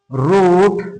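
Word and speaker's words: wrote: এরকম word doubly তো ডাবলিউ এর উচ্চারণ আমরা পাই না যেমন তোমার right W আর আই TE right রুট ডবলিউ আর ওটি রুট রোট রিটেন তারপরে তোমার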